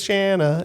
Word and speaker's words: Shana: sa the Top Banana my name is Shana it rhymes with banana okay so yeah so